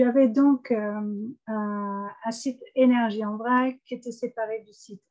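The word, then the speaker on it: Wrac'h: Donc, très vite, je me suis rendu compte que j'avais en fait séparé mon compte, alors énergie en vrac, puisque alors vrac, ça s'écrit comme Abervrac ici, c'est pas, c'est C'est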